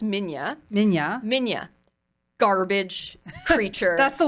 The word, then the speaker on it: Minilla: Yeah, that's baby- pronounced Minya.